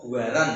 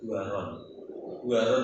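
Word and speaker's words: Buran: Yang masih itu anak perempuan, cucu Raja Kisra namanya Buaron atau Buaran kalau orang bacanya. Kalau Arab dia berarti Buaron itu namanya.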